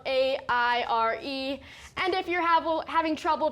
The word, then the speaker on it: Aire: name is air spelled a-i-r-e and if you're having trouble pronouncing it Scott said quote it's pronounced air like billionaires unquote last February the